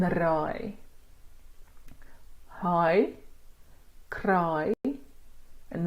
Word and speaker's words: raai: The long I that you get in cry is high, cry, and raai. High, cry, and raai.